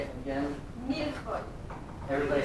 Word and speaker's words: millefeuille: Millefeuille. Everybody say it. Almost like milk for you. Mil is like in Spanish, it's a thousand.